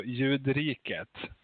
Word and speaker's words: Ljudriket: Studio Ljudriket.